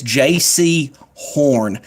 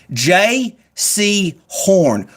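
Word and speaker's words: Jaycee Horn: J.C. Horn, cornerback from South Carolina. J-A-Y-C-E-E for all you people that don't know how to spell J-C.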